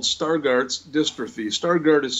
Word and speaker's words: Stargardt: want to look it up someday it's called Stargardt's dystrophy Stargardt is spelled st AR g AR dt Stargardt's macular